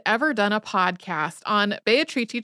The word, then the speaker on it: Beatrice: done a podcast on bayatriti chenji who most English speakers would pronounce as Beatrice if you're thinking these letters aren't adding up to a name for me it's spelled the same way as Beatrice we had not done